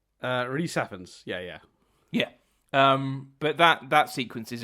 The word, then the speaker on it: Rhys Ifans: Rhys Ifans.